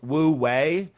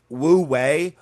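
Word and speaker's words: wu wei: Um which typically uh is called wooi. That's w u hyphen w ei um which wooi which means something like acting by inaction or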